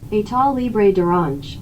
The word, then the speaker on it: État Libre d'Orange: This month I received Versace Eros, Exit the King by how do I pronounce that? It sounds so fancy. État Libre d'Orange. État Libre d'Orange.